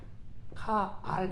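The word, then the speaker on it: קַל: 사실 칼도 저 같은 경우는 개인적으로는 칼 이렇게 안 하고 카알 이렇게 해요.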